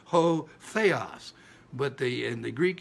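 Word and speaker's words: ὁ: the letter o uh we pronounce it as ho it's a rough breathing ho but the in the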